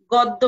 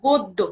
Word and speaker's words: গদ্য: গদ্দ্য বলবো না বলবো গদ্য কারণ গ এর উচ্চারণ ও হয়ে যাচ্ছে যেহেতু এখানে জ ফালা রয়েছে আমি আবারো বলছি জ ফালা যুক্ত অধ্বনি উচ্চারিত হয় ও ধ্বনির মত যেমন পদ্য গদ্য মধ্য ইত্যাদি তাহলে আমরা এখানে যে